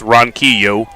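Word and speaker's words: Ronquillo: Apparently I was pronouncing his name correctly. It's Ron Kio.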